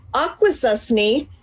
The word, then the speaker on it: Akwesasne: the First Nations Mohawk from the Akwesasne Mohawk Reserve. Did I get that pronounced right?